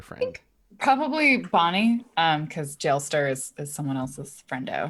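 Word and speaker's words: Jalester: do we have it is it Gillette sir rhymes with molester or is it jail ster rhymes with hailstorm let's see listen I'm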